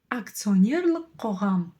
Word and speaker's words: акционер: и мы видим что слово акционер заимствовано из русского языка в казахский соответственно читается и произносится оно точно так же как и в русском языке акционер акционер Да здесь